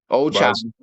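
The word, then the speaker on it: Ochai Agbaji: They got Ochai, Agboji, or I guess I'm pronouncing that wrong, but again, Ochai, Abaji.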